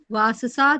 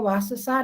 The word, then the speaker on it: वाससः: वाससा धारणम, वस्त्र का धारण करना। देखो थोड़ा सा उच्चारण और शुद्ध कर लो, वाससा नहीं, वाससः, शीरसः, तपसः, आ की मात्रा नहीं बोलनी वो।